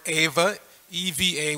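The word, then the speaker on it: एव: being mixen pronunciation wise there's the word Ava evva which means certainly yeah and there's IA Iva which means like and we've heard that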